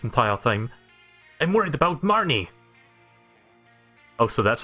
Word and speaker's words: Marnie: was from turf fields Marnie yeah that was a I kept calling her marine for like most of the gaming and I had